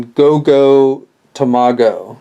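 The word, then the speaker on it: GoGo Tomago: no Jinger um I believe is how you pronounce his name and and then goo tomago um again I I'm not 100% on the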